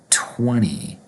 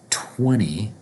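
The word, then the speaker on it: twenty: and we pronounce the number 20 in American English with an n so even though the number has a T20 we have two T's second T is going to be pronounced like an n so 20 then we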